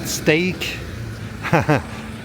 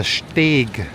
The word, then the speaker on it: Steg: Not steak. It's You pronounce it just like steak. No, it's the Steg.